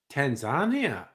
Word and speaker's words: Tanzania: Uh, Anyway, she's going to Tanzania on a holiday, right? yeah. But that's how Westerners pronounce the name of the country. How did the locals pronounce it? Tanzania. Tanzania.